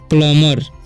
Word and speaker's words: plumber: Okay, अब यहाँ पर लिखा है PLUMBER, तो यहाँ पर भी बी का उच्चारण नहीं होगा, इसे हम पढ़ेंगे प्लम्बर।